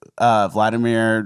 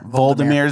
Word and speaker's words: Volodymyr: Did you know how quick Vladimir Zelensky, was that how you say it? Volodymyr Zelensky.